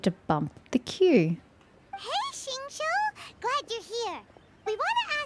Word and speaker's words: Xingqiu: The way they keep dragging out Chiu, Xingqiu. It's one syllable, guys. Chiu.